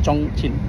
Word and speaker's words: Chongqing: Tulisannya Chongqing, tapi orang bacanya Chongqing.